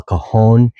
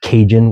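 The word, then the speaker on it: cajón: First one's going to be el kahon. And that's spelled c a j o n. Kahon means box in Spanish. And it's not kajun, which is a completely different type part of the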